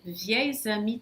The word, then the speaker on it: vieilles amies: Mas como depois vem uma vogal, esse S no final de vieille vai se pronunciar como se fosse um Z.